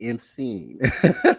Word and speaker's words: Amsi: As I'm seen, Amsi. Thank you so much for correcting me. Amsi.